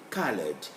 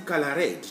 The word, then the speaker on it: colored: us the sound ed so we say colored not the color red no don't pronounce like that in english standard english that is to say